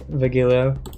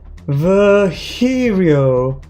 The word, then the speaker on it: Virgilio: You look winded, Vigilio. It's pronounced Virgilio.